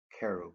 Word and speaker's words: cherub: The first face was the face of a cherub. Carob, if you like, it's a better pronunciation.